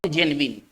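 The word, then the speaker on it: genuine: तो इसका जो दूसरा क्या हम लिखेंगे, not real not जेन्युइन, not real या नॉट, इसको पढ़ेंगे जेन्युइन, थोड़ा ध्यान दिया जाए, इसको पढ़ा जाएगा जेन्युइन, इसका मतलब हम कह सकते हैं नकली।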